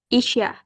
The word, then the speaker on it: Isya: Can you pronounce Isa? In Isya. Indonesia, we usually say it Isya.